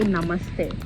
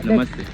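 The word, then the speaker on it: नमस्ते: So in Hindi, mostly if we informal way to greet in Hindi is to say namaste. That's Hindi? Yeah. Namaste.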